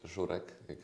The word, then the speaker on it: żurek: It's called żurek. It's hard to pronounce.